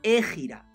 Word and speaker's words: hégira: la meca hacia medina se llama gira ojo con h y contiene cuando se escribe en español aquí es que está en inglés la hégira es importante